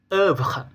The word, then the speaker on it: œuvre: Untuk pengucapannya yaitu seperti bunyi E dan lebih terbuka daripada E yang sebelumnya. Contoh kata yaitu leur, lalu kata sœur, dan kata œuvre.